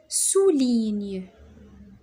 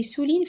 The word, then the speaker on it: souligne: جي ان ça se prononce نيو. je معناتها انا. souligne sou هذه او او او je souligne قلنا جي ان سي نيو.